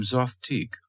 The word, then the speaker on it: Zothique: Smith would later tell DeCamp that the name Zothique was constructed on the analogy of antique, and therefore rhymes with it.